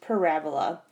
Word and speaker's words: parabola: is called a parabola so it's spelled and it looks like parabola but it's really pronounced parabola and parabola is this